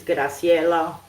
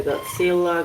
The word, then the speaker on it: Graciela: By birth is Graciella. But because they can't pronounce Spanish here, they call me Godila. Godzilla. Sounds like Godzilla.